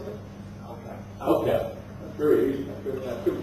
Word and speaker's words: AOCAP: How do you pronounce it? AOCAP.